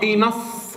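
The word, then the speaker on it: enough: اي نا اهو اي نا انف اللي هي كافي، انف اللي هي معناها ايه؟ كافي.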